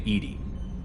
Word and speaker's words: EDI: behind the medical Bay why are you named Edie Ed is the phonetic pronunciation of Eed d I that is an